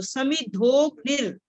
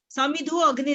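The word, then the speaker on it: समिधोऽग्निर्: समिद्धोग्निर, समिद्धो अग्निर नहीं हमने बोलना, हमने अ जो एस है ये साइलेंट है। जब हम संधि करते हैं तब ये अ की आवाज आती है।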